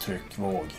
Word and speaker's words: Tryckvåg: Tryckvåg means blast wave, and it's pronounced Tryckvåg.